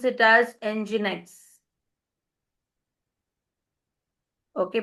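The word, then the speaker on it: nginx: We pronounce it as enginex. Okay, pronounced this way.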